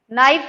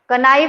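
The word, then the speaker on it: knife: ये क्या लिखा है मैंने, नाइफ लिखा है, के है इसमें, बट ये साइलेंट है, तो यहां भी ये क्या है, साइलेंट है। इन चीजों का ध्यान रखो, कनो नहीं होता, नो होता है। कनाइफ नहीं, नाइफ होता है।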